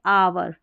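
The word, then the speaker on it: hour: यहाँ है इसको ऑनर, ऑनर क्योंकि एच साइलेंट है, ऑनर, और यह है आवर, आवर यानी कि घंटा, ठीक है, इस तरीके से।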